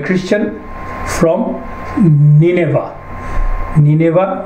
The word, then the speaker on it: Nineveh: নিনেভা আর আরেকটা pronunciation হচ্ছে Ninawa. So there are different pronunciation. It's in Iraq, Nineveh, famous place.